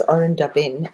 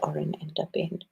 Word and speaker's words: Orendaben: Oh, it's Oren Daben. It's not Oren and Daben.